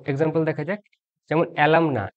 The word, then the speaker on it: alumni: আর এর সাথে ই বসে গেলে এই এ ই একসাথে উচ্চারিত হয় ই হিসাবে। যেমন অ্যালামনা থেকে অ্যালামনি।